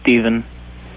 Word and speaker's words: Estevan: Estevan? What's up? Estevan? How do you say that? Yeah. How do you pronounce your name? Huh? How do you pronounce your name? It's just Steven.